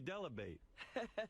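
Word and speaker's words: Dell'Abate: Gary Delabate. Rhymes with debate by Sher.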